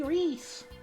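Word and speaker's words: Rhys: Kind of fits because she's like a rat, so like Reese kind of has the same amount of like syllables and starts with an R, so it's a little fitting.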